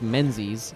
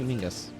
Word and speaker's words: Menzies: mengis which looks like menzies the z was chosen because i guess in cursive it looks very similar to a letter that doesn't exist in english uh that is pronounced